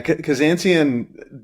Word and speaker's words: Kazanciyan: Yeah, Kazanciyan definitely, I mean, it's sort of phonetic, right? Armenian last name, and I've heard lots of variations on how it's pronounced.